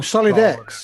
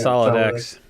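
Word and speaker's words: SolydX: know from pronouncing right Sol y DX o Sully Dex no that's solid X now that's Debian bikes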